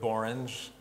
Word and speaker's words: borange: so I'll end with borange it's pronounced like orange orange is borange and